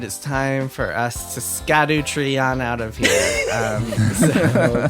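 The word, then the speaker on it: Scadutree: On that note, it is time for us to Scadu tree on out of here. So, Kirk, Maddy. That was the correct pronunciation.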